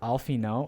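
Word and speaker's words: Alphinaud: It's pronounced Alfino.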